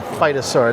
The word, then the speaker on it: phytosaur: Kind of an appropriate name, phytosaur. Not spelled like fight, but there it is right there.